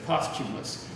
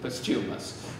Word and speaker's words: Posthumus: Posthumus is our hero, and I know it's odd to pronounce the name that way. We would say the name in modern English as Posthumus, but Shakespeare clearly pronounces it Posthumus. If you can read iambic pentameter, you know that.